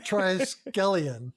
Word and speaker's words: Triskelion: Triskelion.